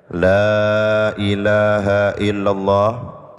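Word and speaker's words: لا إله إلا الله: Idza qulta, apabila kalian membaca la ilaha illallah, yaitu kalimat la ilaha illallah, muddal kalimata, baca panjang yang mesti dipanjangkan. La panjang, ilaha la-nya panjang, illallah panjang, bacanya yang benar.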